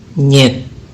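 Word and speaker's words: нет: Bahasa Indonesianya tidak, bahasa Rusianya nyet. Nah, dalam ucapan nyet itu terdapat 4 huruf ya, sedangkan dalam tulisan Rusianya itu ada 3 huruf.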